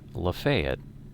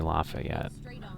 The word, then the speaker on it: Lafayette: i had lived um they have lafayette is how they say it they don't say lafayette um and similarly most